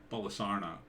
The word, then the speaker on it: Bolsonaro: Bolsonaro.